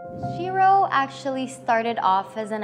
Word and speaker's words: Shero: about the name itself so Shiro a lot of people actually mispronounced it Cheryl but Shiro is actually a new added word in the dictionary meaning female